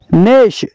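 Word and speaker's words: gnash: का P silent है नेश नेश का मतलब है दांत चबाना नेश का जी साइलेंट है नेस्ट नेस्ट का मतलब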